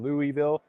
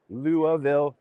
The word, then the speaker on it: Louisville: the Ohigh booth in Louisville. Sorry, Luavville, Kentucky. We've been taught how to pronounce the city many times and obviously it didn't stick in my brain yet.